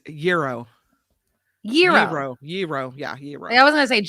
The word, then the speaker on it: gyro: Oh, by the way, Andreas sends us a pronouncer. He says gyro.